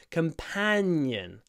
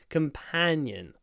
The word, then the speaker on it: companion: Companion. Really open your mouth wide to say this word. Companion.